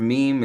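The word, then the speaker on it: ميم: see the structure of meme is kind of like it's not like any other structure you've seen the skeleton and it's pronounced mean basically with the two lips together and then meme that's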